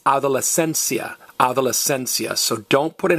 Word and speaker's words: adolescencia: So it's adolescencia, adolescencia. So don't put an accent over the I. It's adolescencia. You stress the next to last vowel.